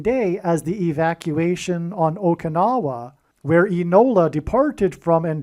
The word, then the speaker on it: Okinawa: on the island of Okinawa, which rhymes with Obama, as does Inola, the